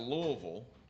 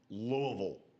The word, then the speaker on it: Louisville: 131, the New Orleans Saints take a corner out of Louisville.